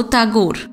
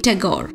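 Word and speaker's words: Tagore: বলতো ছোট বড় সকলেই বিদেশে বলতো তাগোর তাগোরে বা টেগোর আজকাল থেকে বাঙালিরাও ট তে একটা জফলা লাগিয়ে বলে ট্যাগর এর চেয়ে শ্রুতিক উচ্চারণ আর নেই রবি বাবু উপযুক্ত সম্ভাষণ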